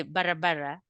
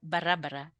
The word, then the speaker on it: barabara: in sah baraba barabara the spelling is the same pronunciation is the same the difference is where you put the stress now if you just say barabara you simply mean AUD